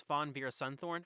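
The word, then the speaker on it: Fawn Veerasunthorn: couple of things one her name is pronounced as Fawn ver sunthorn I apologize and I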